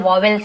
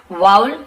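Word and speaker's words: vowel: इसे वाउल कहते हैं, बहुत सारे वॉवेल्स ऐसे बोल देते हैं, लेकिन वाउल इसका उच्चारण सही है।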